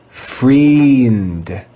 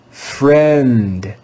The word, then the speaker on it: friend: is an irregular word the ie digraph in this word is pronounced with the short e sound we would read this word as friend friend friend this is another